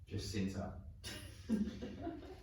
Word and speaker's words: Jacinta: is Jacinta. Jacinta. Jacinta rhymes with Fiona.